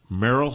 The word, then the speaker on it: Merrill: introduce Merill Hutchinson now your name is spelled m e r r i l l but when you first told me your name you it sounded more like m e r l e well depends on what